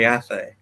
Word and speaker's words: Athay: If there's another Ryan, you call me, but you can always call me Athay.